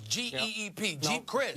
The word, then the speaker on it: Chryst: has an offensive coordinator in Jeep Crist I believe that's how you pronounce his name JD's GEEP Chryst you got it well he was the